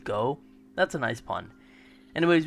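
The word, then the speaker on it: 五: way is 555 because the Japanese number five is literally pronounced go that's a nice pun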